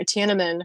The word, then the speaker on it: Tiananmen: Tiananmen, right?